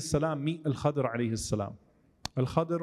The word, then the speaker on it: Al-Khadr: Al-Khadr or Al-Khidr, more commonly actually pronounced Al-Khadr in Ahadith.